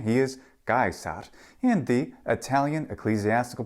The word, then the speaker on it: Caesar: about this before but it is indeed gar in classical Latin and jaar in the ecclesiastical Latin pron pronunciation and also in that lovely German Slavic pronunciation of Latin it's so which one